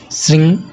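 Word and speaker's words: श्रीं: कोशिश कीजिएगा कि श्रृंग में ग का उच्चारण ना हो और ह्रिंग में ग का उच्चारण ना हो, जिसे श्रृंग ह्रिंग सरस्वत्यै स्वाहा इस तरह से उच्चारण कीजिएगा तो ज़्यादा ये श्रेष्ठकर है।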